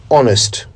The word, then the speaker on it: honest: H O N E S T. Honest. Such a common and simple word, isn't it? It means truthful. When pronouncing the word honest, always remember that the H is silent.